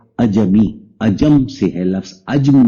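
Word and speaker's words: عجمی: بھی پڑھ سکتے ہیں، لیکن اس کا صحیح تلفظ ہے اجمی۔ اجم سے ہے لفظ،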